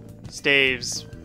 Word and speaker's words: staves: Staves. You get my point. I don't know why some people pronounce the plural of staff as stave, like with a V.